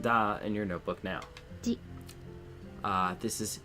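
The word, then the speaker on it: じ: Ji. Ji. Z. You pronounce this as Z. There's no D sound for this character, and yes, it sounds exactly the same as another one.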